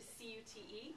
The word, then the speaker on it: cute: So the example he gave was C-U-T, cut, is transformed by adding the single silent E to C-U-T-E, cute.